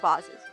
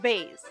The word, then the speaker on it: vases: to his growing collections don't fight me over my pronunciation of bosses i can't say it like base that sounds like the uncultured american way it's vibes too bad